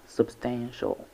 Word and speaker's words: substantial: Substantial has 3 syllables. The first one is sub, sub, sub with a schwa sound between them. Stand, stand with a like in slap. Substantial, shall, substantial. The stress is on the second syllable.